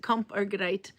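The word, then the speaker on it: kamp: It's um, comp means fight in Norwegian. Uh, but it's spelled like camp with a K.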